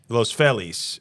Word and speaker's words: Los Feliz: Now they head over to Los Feliz. Los Felis as the idiots in Los Angeles pronounce it.